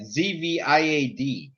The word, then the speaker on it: Zviad: Is it Viad or Ziad? How the fuck do you say that? Zviad. How do you pronounce?